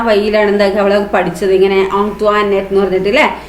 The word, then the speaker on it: Antoinette: Most of them pronounced it ആസ് ആന്റോയിനെറ്റ്. കൂടുതൽ ആൾക്കാരും എന്താണ് അവളെ വിളിക്കുന്നത് ആന്റോയിനെറ്റ് എന്നൊക്കെയാണ് വിളിക്കുന്നത് അല്ലെ. ബട്ട് കുഞ്ഞിച്ചിരുത learn from ആന്റോണിറ്റ that the name ought to be pronounced ഓൺത്വാനെറ്റ് അല്ലെ. അപ്പൊ ഇതാണ് കറക്റ്റ് അല്ലെ.